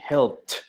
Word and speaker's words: helped: Si hago el sonido de la P, no me vibran las cuerdas vocales. Por lo tanto, ese ED lo voy a pronunciar como una T. Entonces, yo ayudé. I helped.